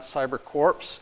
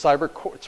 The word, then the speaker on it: CyberCorps: the end so it's cyber courts pronounced core just like the Marine Corps but anyway so you